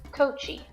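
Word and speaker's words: Koči: was his wife's maiden name was cochi which is spelled k-o-c-i of course it's not actually a c but i'll get into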